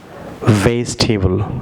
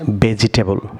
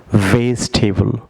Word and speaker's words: vegetable: সাথে বলুন vanish vanish viewers যেমন vegetable not vegetable ভিউয়ার্স বলুন vegetable ভিউয়ার্স এখানে ই সাইলেন্ট থাকবে VEGE VEGE ই সাইলেন্ট